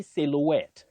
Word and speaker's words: silhouette: we have at ODI you say silhouette not sil silhouette it's a long word but there are those silent ones so I know it's